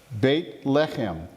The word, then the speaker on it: Beit Lechem: It's actually 2 Hebrew words called Beit Lechem. Beit is house, Lechem is bread. What's Yeshua sometimes known as? The bread of Beit Lechem is the actual appropriate Hebrew pronunciation of Bethlehem.